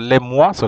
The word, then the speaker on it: les mois: explain the activities so let's start with the Le Moi so Le Moi is the months um the months